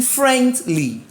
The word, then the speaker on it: friendly: The stress should be on the first syllable, which is friend. You are acting friendly.